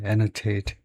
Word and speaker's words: annotate: 주석을 달다, 해설을 붙이다, annotate. 발음이 나와 있는지 모르겠지만은, 발음이 안 나와 있네요. 그래서, 발음은 앞에다 액센트를 두고 annotate이라고 하네요.